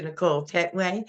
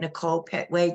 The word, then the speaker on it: Nichole Pettway: Dr Nicole my name is Nicole pway Dr Nicole pway and I can be reached at Nicole Petway dcom or on Instagram I am Nicole Petway